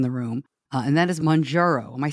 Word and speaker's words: Mounjaro: I'm not sure I pronounced it correctly, but it is Mounjaro. The N comes first.